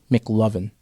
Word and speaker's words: McLovin: awkward kid shave him one word three syllables mck Loven well it's iconic that